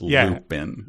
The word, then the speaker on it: Lupin: And this is spelled as though one is looping into something without the G. This is Lupin.